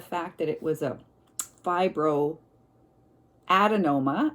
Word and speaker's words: fibroadenoma: that it was a fibro adenoma I think I was mispronouncing it my last video fibroadenoma um and it's my